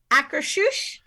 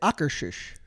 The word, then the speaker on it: Akershus: I have been taught that it is Akershus. It is That's a how I would say Norwegian it. restaurant. That's how I would say it. Akershus.